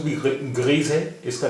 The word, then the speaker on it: grise: واحد مذکر اور جمع مذکر دونوں کی اسپیلنگ ایک ہی ہوتی ہے, GRIS, گری, گری. اس کا گری کا مؤنث ہے گریز, GRISE, گریز.